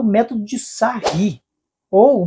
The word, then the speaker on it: Sarrus: ensinar o método de sarri. ou muitos dizem que não sabem a pronúncia, é método de sarros, mas o correto é sar, é um francês.